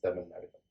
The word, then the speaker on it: Tamil Nadagam: So I would say it's Tamil Nadagam. Okay, so listeners, there you go. The correct way of pronouncing and also what it means.